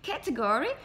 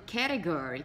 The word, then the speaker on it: category: Na americana, você vai ouvir falar as pessoas falando category, category. Você já deve ter sentido que tem uma leve diferença na pronúncia de T's. Sendo o inglês americano ou do britânico, certo? Então, americano falaria mais category, category, ok? Então, o T tem mais um som de R, category, tá?